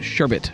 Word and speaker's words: sherbet: is what we all call it but it's sherbet is the proper pronunciation okay it's a long story uh but